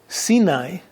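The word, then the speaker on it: סיני: you know that the word Sinai in Hebrew sini it's pronounced is related according to the talud to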